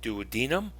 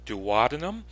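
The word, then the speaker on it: duodenum: first component is the dadum or dadum those two pronunciations are correct and then the next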